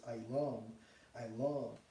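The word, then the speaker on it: עולם: And when you go into that Hebrew word for forever, the Strong's H 5957 pronounced as Ilam, and it means perpetuity, which you get the term perpetual from.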